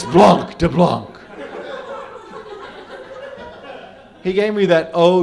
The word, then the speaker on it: blanc de blanc: We'll have a bottle of blank de blank. Mama. It's blanc de blanc.